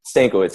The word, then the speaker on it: Stankiewicz: Did I pronounce it right? Stankiewicz, right? Stankiewicz, yeah.